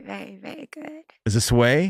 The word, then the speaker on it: Tsuei: Is it Tsuei? Tsuei. I only know because I'm a big fan of the Asian beer Qingdao. So I know that you don't pronounce the T and the S.